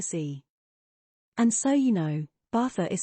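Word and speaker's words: Baza: and so you know bathur is spelled b-a-z-a The Zed is pronounced as a th this narrator won't pronounce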